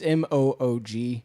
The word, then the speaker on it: Moog: they used the Moog on this, or Moog. I forget how it's pronounced. It's Moog.